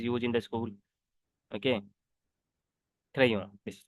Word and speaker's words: crayon: What we say this word, this is the ending letter consonant. We don't know, we don't pronounce this letter. I already told you yesterday. So we will say this crayon.